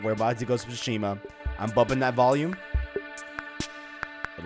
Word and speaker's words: Tsushima: We're about to go to Tsushima.